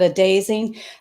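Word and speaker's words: Adazing: They have ebook, templates, or a dazing. It's spelled just like amazing, but a dazing.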